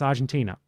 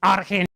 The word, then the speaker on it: Argentina: Argentina in English is pronounced Argentina. It's not pronounced aren.